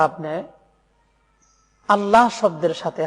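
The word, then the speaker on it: الله: এটাকে বলতে হবে আল্লাহ মোটা করে লামকে উচ্চারণ করতে হবে অনেকে আযান দেন বা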